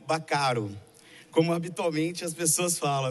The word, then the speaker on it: Baccaro: Durante a vida toda, Mário teve que explicar a pronúncia de seu nome era Baccaro e não Baccaro, como habitualmente as pessoas falam.